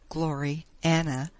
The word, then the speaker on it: Gloriana: Gloriana, pronounced as 2 words, Glory, Anna, being the work of her